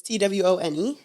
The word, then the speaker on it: Twone: I think that's how you say his name. Tone? It's Twone.